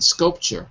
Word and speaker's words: sculpture: that's it sculpture the the T in sculpture sounds like a CH like a CH like